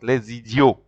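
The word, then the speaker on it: les idiots: like I always said when s uh is joined uh with the following uh vowel which is another word which is a okay another element another word the S sounds like a z so it goes like lazy Geo let's video so repeat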